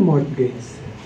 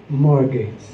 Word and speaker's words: mortgage: At ang utang niya kay C, kaya siya pinautang ni C, merong anong mortgage? Hindi yan mortgage. Yan ay mortgage. Hindi binibigkas ang T.